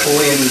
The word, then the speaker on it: Puglia: So the G is silent. It's Puglia. Yes.